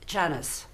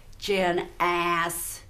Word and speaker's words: Janice: if you want, because that's not how you pronounce my name. My name is Janice. In French, it's Janice. In Italiano, it's Janizza. With a Texan drawl, it's Janice, not Janice. He's getting the syllable Jan-ass.